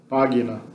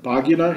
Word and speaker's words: pagina: Pagina na pronúncia clássica da antiguidade, pagina na pronúncia italiana moderna.